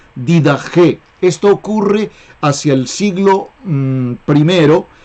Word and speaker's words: Didaché: Se escribe Didaché, pero allí la Che se pronuncia como J. Didaché.